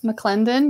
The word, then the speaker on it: McClendon: Did I mispronounce that? Nope. McClendon.